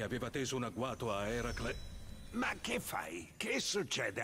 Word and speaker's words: Eracle: Dopo aver sconfitto la Gorgone che aveva teso un agguato a Eracle... Ma che fai? Che succede alla tua voce? Eracle? Sì, quello. È così che si dovrebbe pronunciare.